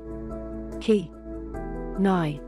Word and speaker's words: knife: word knife for example in the past it would have been pronounces key nigh if that became knife with a silent k and a silent E